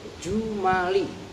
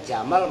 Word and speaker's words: jumal: Wa yakunu dan ada apa wal fi'lu yu'rafu biqad min atfil, awas harokatnya benar, min atfil jumali. Kalau kalian bacanya jamal maknanya unta, itu jumal, jamaknya jumlah.